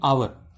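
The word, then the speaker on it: hour: Similarly ऐसी यहाँ पे देखेंगे आवर, आवर में आप देखेंगे कि लिखा जरूर एच है, एच से स्टार्ट हो रहा है, लेकिन जब अपन उनको प्रोनाउंस करते हैं तो वॉवल साउंड निकलता है आवर का, तो इसमें अपन देखेंगे कि एन लगेगा, ना कि ए लगेगा एच के कारण।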